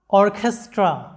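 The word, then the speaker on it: orchestra: অর্কেস্ট্রা, লক্ষ্য করো শব্দটা অর্কেস্ট্রা, শব্দের উচ্চারণটা হবে অর্কেস্ট্রা, এরকম, যেটার বাংলা অর্থটা হচ্ছে বাদক দল।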